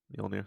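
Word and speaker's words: Mjölnir: Mjolnir. Right? Did I pronounce that right? Mjolnir.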